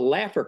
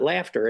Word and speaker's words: Laffer: Now, what's interesting is there's this economic principle, what's been called the Laffer curve, and I have to spell it so it's not laughter. It's Laffer.